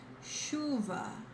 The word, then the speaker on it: chuva: It never sounds like ch, like ch in chocolate. It sounds like sh, as in she or shy, okay? And remember, regardless of the word, if you see the ch, is exactly like the sh in English.